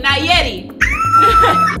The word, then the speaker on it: Nayeli: Danieli. Oh my God. Danieli, how do you say that? Nayeli.